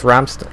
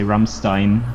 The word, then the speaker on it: Rammstein: The German lesson, by the way, mostly Americans say Rammstein, but the ST is not sharp. The It's ST Rammstein. is basically Yeah. no, it's Stein. Stein. Yeah. SHT followed by an EI.